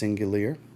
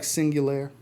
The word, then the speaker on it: Singulier: Boucheron, I believe it's pronounced Singulier. It looks like Singulier. but I think with the E instead of the A, it's more singular.